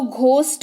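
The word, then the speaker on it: ghost: लगा हुआ coat ghosh2 इसको गहौं नहिं इसको घोस्ट पढ़ते हैं पढ़ते पढ़ते हैं घोस्ट पड़ते हैं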